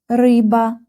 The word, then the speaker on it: рыба: РЫБА.